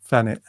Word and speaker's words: Thanet: you call people from Thanet? Phoenicians? No, what would you call them? Bantunians. Bantunians. I like that you pronounce it with your London accent with an F instead of a TH.